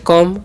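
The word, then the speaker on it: come: क्या लिखा हुआ है जी सीओ एम सी कान क करना ओ का अ एम से म लास्ट वाला इ कान नहीं करना तो हो गया कम जी का ग करना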